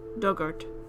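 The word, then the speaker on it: Dugort: Dug like the past tense of dig, ort. Dugart.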